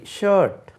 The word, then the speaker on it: shirt: SHIRT, SHIRT, ஷர்ட். அது ஷர்ட்டுன்னு உச்சரிக்கக்கூடாது. ஷர்ட் எப்படி உச்சரிக்கணும்? ஷர்ட். நம்ம சிலர் ஷர்ட்டுன்னு சொல்கிறது கேட்டிருக்கோம். ஷர்ட் என்று உச்சரிக்கணும். கால் சட்டை, அதுக்கு பேண்ட்ஸ், ட்ரௌசர்ஸ்.